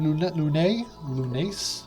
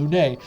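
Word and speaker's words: Lunais: So you play as a time messenger named Lunace. I think the S is silent. Lune, who was sent back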